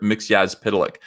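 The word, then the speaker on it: Mxyzptlk: McGee as pedelec by the way a lot of people are you impressed that I know how to pronounce that have you ever heard mr. Mickey as podalic pronounced maybe on the cartoon that was about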